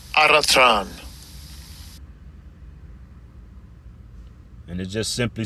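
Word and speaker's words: ἄροτρον: And I'll bring the word pronunciation out. Strong's G 723. Aratran. Aratran.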